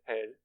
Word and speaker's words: RESE: Pronúncia, reze.